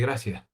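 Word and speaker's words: gracias: In Ten, you say gracia. You pronounce the C as a C rather than a th and also the word endings are very lazy.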